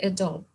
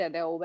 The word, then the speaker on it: Adobe: I mean, even employees call it When Adobe. I went for the interview, in my interview, I said Adobe, and then the director who was taking my interview said it's Adobe. He didn't even know how